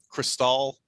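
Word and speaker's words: Chrystal: the movie i think it's called uh cristal but it's spelled like with an h c h ry scale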